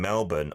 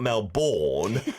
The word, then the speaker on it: Melbourne: Korean language centre in Melbourne, Australia. CT saying, and maybe, Adam, you didn't correct me because you're very polite, it's not Melbourne, how it's spelt, but Melbourne.